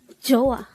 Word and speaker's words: 좋아: number 116 chah joah this is pronounced as a two syllable word the first syll is CH the second syllable is a pronounce it with me